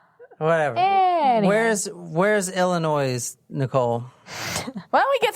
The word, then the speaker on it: Illinois: place excuse me Illinois whato Illinois Illinois no Illinois Illinois Jen you don't pronounce the S at the end all right my mom's